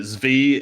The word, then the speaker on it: Zvi: And I do appreciate chat pointing out that Zvi is the correct pronunciation back here.